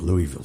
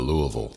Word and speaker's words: Louisville: Because I was saying Louisville Slugger. Instead of Louisville. Louisville. She taught me how to say it right.